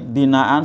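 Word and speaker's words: بناء: Wasamaa dan langit binaan sebagai hamparan. Nah, tadi kalau bacanya berhenti dibaca mat iwat ya. Wasamaa binaa gitu ya, harus 2 ketuk.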